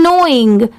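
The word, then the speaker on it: knowing: क्या हो जाएगा स्माइल्ड ये है नोइंग यहां पर एन ओ डब्ल्यू आई आई एन जी सिर्फ इतने की साउंड आ रही है। मतलब सिर्फ इतना ही प्रोनाउंस किया जाता है। बट लिखते टाइम के भी ऐड करते हैं। यहां पर प्रोनाउंस करते टाइम लेटर के साइलेंट होता है।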